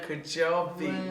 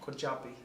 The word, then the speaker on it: Kujabi: Mandina Kujabi.